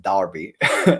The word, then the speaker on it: Derby: still need to find the right way to pronounce it, Derby, in Derby. Just remember, it's an A, not an E. It's an E, but just in Exactly, Derby.